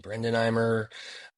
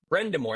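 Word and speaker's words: Brind'Amour: Brendenheimer. Brindamore. Brendamore, there we go.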